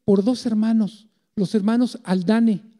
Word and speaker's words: Haldane: dos hermanos los hermanos aldán así se escribe con h aldán muchos dicen aldán o haldane y les pueden decir